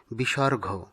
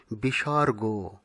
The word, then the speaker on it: বিসর্গ: আর তারপরেরটি অনেকেই আমরা ভুল বসত বলে থাকি বিসর্গ কিন্তু না সঠিক উচ্চারণ হবে বিসর্গ অনুস্বর বিসর্গ এই উচ্চারণ দুটো শুদ্ধ এবং ব্যাকরণসিদ্ধ।